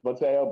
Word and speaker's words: Mateo: i have no idea most people say tail but it's mateo but people say ko